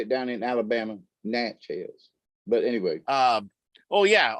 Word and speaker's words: Natchez: that's how they say it down in alabama natchez but anyway um oh yeah okay so um